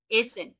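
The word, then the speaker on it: essen: ইয়াডেস ইয়াহার ইম ইউলি isn't isn't না ভাইয়া, এজেন। ইয়ানা এ অবশ্যই এ উচ্চারণ করবে। এসেন, ডাবল এস এর মতো উচ্চারণ করবো।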